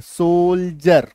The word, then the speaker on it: soldier: ये देखिए SOLDIER लिखा हुआ है। डी के पहले कुछ अक्षर तो हैं, खाली नहीं रहना चाहिए, मतलब डी से शुरू नहीं होना चाहिए शब्द, ठीक। और डी के बाद ये देखिए क्या है, IER, तो इसका उच्चारण जो है डी का उच्चारण ज होगा। ये देखिए सोल्जर, यानी कि सैनिक, सिपाही, हिंदी मीनिंग है।